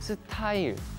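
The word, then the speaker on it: 스타일: Стиль по-корейски будет сытай.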